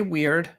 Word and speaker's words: Wyrd: I have heard this word pronounced both weird and weird. What does it actually mean? So I say weird and essentially what we're talking about is the equivalent of the Greek fate.